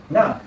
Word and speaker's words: know: तो इसमें बच्चे बहुत कंफ्यूज करते हैं ना, बच्चे ही नहीं गार्जियन लोग भी इसमें गलती कर बैठते हैं।